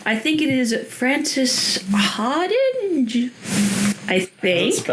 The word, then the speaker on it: Hardinge: And I'm probably going to mispronounce this author's name. I think it is Francis Harding.